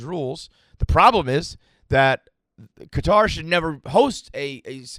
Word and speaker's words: Qatar: now in in qatar i pronounce it qatar i don't pronounce it qatar i'll say that i